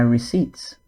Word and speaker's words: receipts: I need to sort out my receipts before I submit it. Note that with receipts, the P is quiet. We don't pronounce it.